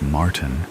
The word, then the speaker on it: Martin: Martin, he pronounces Martin in the American way rather than the way I prefer it. Martin.